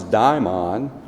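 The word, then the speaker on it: δαίμων: In the ancient Greek world, however, the word demon, which they pronounce daimon, referred to a guiding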